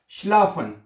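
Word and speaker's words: schlafen: अच्छा उसके बाद अगला लफज़ है शलाफन। हम अगला लफज़ जो है शलाफ़न। ये तो बहुत आसान है ना? एस सी एच शला। शलाफ़न। क्या बनेगा? शलाफन हैं।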